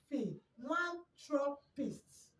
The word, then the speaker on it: philanthropist: So this is the way you pronounce it. Philanthropist. Philanthropist. So now, like I said earlier, the problem you're going to be having pronouncing this word is the PH. But I want you to remember that it has an F sound.